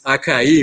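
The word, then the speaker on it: açaí: it right i was there is an accent in the scene by the way another accent in the eye at the end so otherwise it's acai in portuguese okay anyway uh i'm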